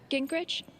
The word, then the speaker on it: Gingrich: Gingrich? Is that how you say it? Yeah, that's right.